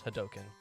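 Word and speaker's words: Hadouken: couldn't get the Hadoken, which is how Hadoken is produced, because it's a D-O-U, and in Japanese it's do-u, so it's Hadoken.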